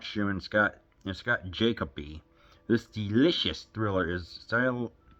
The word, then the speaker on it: Jacoby: How do you say this last name? J A C O B Y Scott Jacoby stars in The Little Girl Who Lives Down the Lane. Is it Jacoby? Jacobi? I say it's Jacoby.